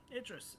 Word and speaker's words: Idris: sea crystal in uh is it adordress? Thank you. God, you would think a sailor like me would would would be able to pronounce uh city names better. Idrris. Yes, Idris.